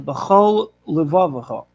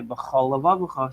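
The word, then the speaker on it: בכל לבבך: So they have a lamed at the end and a lamed at the start. Whereas if you're not particular, not careful in pronunciation, you might say b'chol levavacha. Sounds like only there's either one run-on word, and if you have to separate the words, you might only have one lamed.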